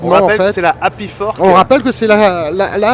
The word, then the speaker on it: Hapifork: c'est la Happy Fork. On rappelle que c'est la Happy Fork. Et ça s'écrit HAPIFORK. Voilà.